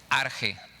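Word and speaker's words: ἀρχή: palabra principio es la palabra en griego arjé arche se escribe con ch esta palabra es arte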